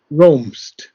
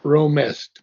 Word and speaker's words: roamest: that is the word roamst, not romest, but roamst. Roams. Okay, roams. Sri Aurobindo abbreviates the word a little bit to have the rhythm correct.